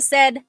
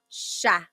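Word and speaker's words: siya: But the s i y combination that makes a sh sound. So in sha.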